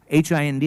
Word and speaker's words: Hind: H-I-N-D, and I've written in brackets, not pronounced as in Jai Hind.